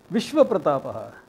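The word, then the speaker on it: विश्वप्रतापः: Vishwa Pratapaha. If you get exposed to a little bit of Sanskrit, learn to pronounce the whole thing. There's a nakara there. Vishwa Pratapaha. Rama.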